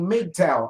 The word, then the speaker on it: MGTOW: or as stated concerning Midtown is how that's pronounced m-g-t-o-w men going their own way system which I originally